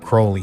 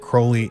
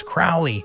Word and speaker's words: Crowley: chronicling his history, and he pronounced it Crowley. He said that Crowley is the correct pronunciation. I know people are going to be saying, oh, it's Crowley. But let me tell you, from studying this at university, I was told from somebody...